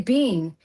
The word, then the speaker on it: been: say instead of saying how do you pronounce been in American English? Ben, Ben, Ben, Ben. And I say I say, "Bean."